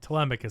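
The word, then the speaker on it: Telemachus: That's Tom Holland and Penelopey are like it might be pronounced like Telmachus technically, but Tmicus says that's what they said in the movie with all of their And by the way, it's Penelope.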